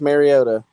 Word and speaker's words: Mariota: say his name correctly kyle all right marcus mariota you're an aunt matthew stafford 2009 goes first